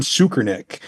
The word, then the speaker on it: Tsoukernik: All right, let's talk a real quick story that happened last week, and that was Leon Tsoukernik. I actually pronounced that right.